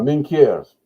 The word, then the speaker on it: Minquiers: But she got a big head start, and she made it to, I'm probably going to butcher this, Minquier, how do you say that? Oh, sorry. La Minquiers.